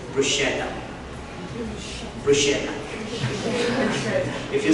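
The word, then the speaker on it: bruschetta: it's exactly BR so most of the English speakers pronounce it brusa Bretta or something like that but it is brushetta BR if you say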